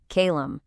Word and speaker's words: Kaelum: This is Kalum. That's pronounced Kalum.